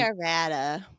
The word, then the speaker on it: Arvada: Did I pronounce that right? Arvada. Yeah. I say Arvada.